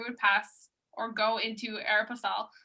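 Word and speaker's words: Aéropostale: to my mom so the reason why i say air pastel not aeropostale is because my mom is from mexico so she reads it from like a spanish point of view so yeah i've told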